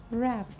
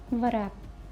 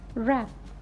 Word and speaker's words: wrap: what's having Silent Sound of w now W is silent in these words for his answer answer answer Java wrap wrap not varap this is wrap lipid now wrinkles wrinkles you will not start